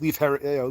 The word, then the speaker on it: Leif: Leaf is perfectly acceptable. Good job, Cassandra. You might not know how to make tacos, but you can pronounce Leif Erikson.